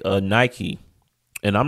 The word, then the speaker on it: Nike: know what it is Nike is based off of pagan deity which we going to talk more about them uh Nik what is how it would be pronounced in the Greek okay God us a